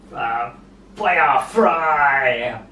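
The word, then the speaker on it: Feuer frei: And then the 4th track I would choose is the 5th track on the album, pronounced Fire Fry, maybe, something like that, translated as Fire Freely.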